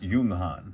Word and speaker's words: Junghans: Um, and apparently it is pronounced Yunghan.